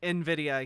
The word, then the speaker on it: Nvidia: oh he he knows it's supposed to be pronounced Nvidia he he just had to dumb it down